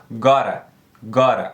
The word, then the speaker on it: gotta: Porque o som desses dois T's juntos aqui é um R. Como assim, Fernando? Primeiro de tudo, eu gosto sempre de deixar bem claro que aqui no canal, normalmente, eu foco no inglês americano.